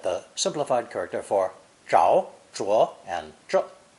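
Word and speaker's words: 著: those 4 ways, but it must be used for the meaning of books and writing, and pronounced 4th tone, zhu. Here's what I hope you've learned in today's lesson.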